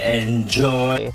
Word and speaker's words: enjoy: pronounce them so prominently enjoy for example this word right here because the first syllable e n is not stressed we should not pronounce it as a enjoy enjoy